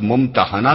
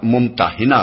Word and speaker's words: الممتحنہ: الممتحنہ رکھا گیا ہے۔ اس کا تلفظ ممتحنہ بھی کیا جاتا ہے اور ممتحنہ بھی۔ پہلے تلفظ کے